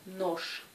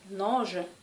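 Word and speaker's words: ночь: La lettre je, à la fin du mot, se prononce ch. Comme dans le mot noche. Noche. Pour l'instant, si vous prononcez noge, les gens vont vous comprendre, mais notez que correctement, il faut prononcer noche.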